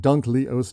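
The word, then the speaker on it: Dunkleosteus: to pronounce this one Some people prefer to say dunk o instead of duncle osus because I think dunk leus sounds more sort of it's British is it that's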